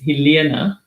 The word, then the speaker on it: Helena: say my name so my name is pronounced the afrikaans way which is hilena and my surname is